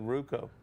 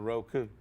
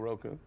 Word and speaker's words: Roku: fun of me because I said ruko you messed it up instead of Roku say it one more time ruko Roku we on Roku however you pronounce it if you type in wwec TV 24.